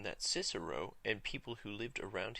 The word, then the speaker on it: Cicero: Our first author, Cicero, or Cicero in English, would have used the pronunciation we call the restored pronunciation. We are restoring the pronunciation that Cicero and people who lived around his time used.